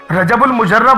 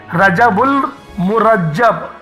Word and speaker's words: رجب المرجب: بولتے ہیں، ان کو رجب المجرب بولتے ہیں، ان کو یہ بھی نہیں پتا کہ رجب المجرب نہیں ہے، رجب المجرب بالکل بھی نہیں ہے، اس کا جو تلفظ ہے وہ بالکل سادے سے ہے، رجب المرجب، مرجب ہے، مجرب نہیں ہے۔ لوگ مجرب بولے جا رہے ہیں۔ اللہ پاک سمجھنے کی